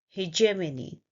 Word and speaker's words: hegemony: The word is hegemony. Let's break down the sounds. The first sound is he, he, j, and we stress here on this syllable, hej.